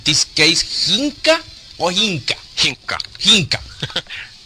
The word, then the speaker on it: Hinkka: Hinkka. Hinkka. Yeah, there's two K's in Finnish that's like Hinkka.